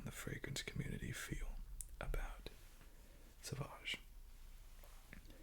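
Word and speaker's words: Sauvage: what it is Salvage I'm just kidding don't pronounce it like that saage that's okay if you just say Savage though that's what what everybody says got that Savage it's amazing they put one more letter in there that people are unfamiliar with the U and it totally throws them like so sausage it's like no nope that actually isn't bad you literally pronounce it like sausage with a v i don't know why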